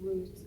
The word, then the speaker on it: Rut: My name is Ruth, R-U-T. You pronounce it like the root of the tree, but it's spelled R-U-T.